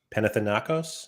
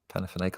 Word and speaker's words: Panathinaikos: Panathinaikos? I feel like I'm missing a syllable. Panathinaikos? I think it's just Panathinaikos.